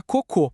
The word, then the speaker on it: cocô: Pensa na palavra coco, sem acento é a fruta. Delícia. Agora, com acento circunflexo, vira cocô. A sílaba tônica, que é a sílaba mais forte. muda de lugar e, bom, a conversa muda completamente de rumo, né?